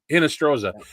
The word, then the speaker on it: Hinostroza: Hinostroza.